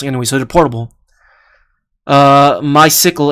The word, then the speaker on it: MySQL: so they're portable uh my sickle and i pronounce my sequel try the incremental static revalidation awesome concept they released with next 12.